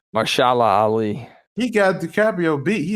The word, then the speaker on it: Mahershala Ali: Well, man, how do you pronounce his name again? Ali, first name? Mahershala Ali.